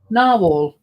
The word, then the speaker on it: narwhal: Narwhwell. How do you say that? Narwhal.